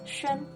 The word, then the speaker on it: 宣: Next, xi plus yu plus an makes 宣.